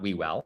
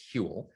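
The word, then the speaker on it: Whewell: guy called william hewell so that's how you pronounce his name it's not we well it's hule uh hewlett was among many things he was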